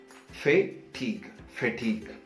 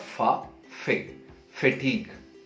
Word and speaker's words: fatigue: the pronunciation of it split that word into two parts faith fatigue it's not far fatigue yes give that a